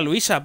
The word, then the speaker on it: Luisa: Bueno, que se pronuncia Luisa por lo que ha dicho la señora.